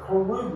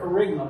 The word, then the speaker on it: kerygma: The Greek word preaching is kerygma. I think that's how you pronounce it. Kerygma. I've heard it kerygma, but I think it's kerygma.